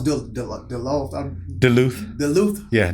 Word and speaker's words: Duluth: michael cena all right atlanta georgia how you pronounce the law duluth duluth yeah duluth georgia georgia yeah all right man appreciate it